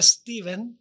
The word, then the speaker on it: Esteban: Bueno, en inglés se pronuncia Stephen, okay. Pero siempre entre los hispanos es Esteban, que es equivalente al español.